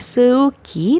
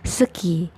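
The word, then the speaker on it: 스키: Walaupun meskipun ini huruf yang tiduran E ini romanisasinya tapi tetap dibacanya itu E-nya itu sendawa. Maksudnya sendawa itu kalau kalian kenyang kan ada suara dari perut ya, gitu. Jadi E-nya itu bukan E ya, tapi E. Jadi bukannya seuki tapi jadinya seki.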